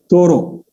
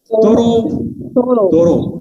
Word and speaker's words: Thoreau: Can you pronounce it with me? Say it with me. It is Thoreau. Okay? Thoreau. Yeah. Thoreau.